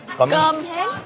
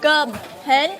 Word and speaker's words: Cơm hến: Our first food of the day, it's called gum hen. Cơm hến. Yeah. How about you just say all the names? What is it called? Cơm hến. Good. And now everyone knows how to say it properly, including me.